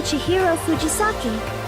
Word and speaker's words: Chihiro Fujisaki: I'm Chihiro Fujisaki.